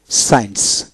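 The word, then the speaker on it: science: গুলিতে তারপর আসেন এখানে সাইন্স এস সি আই এন সি সাইন্স সাইন্স অর্থাৎ কি এস আই ই এন সি সাইন্স এভাবে হবে তারপর হল ফেসিনেট ফেসিনেট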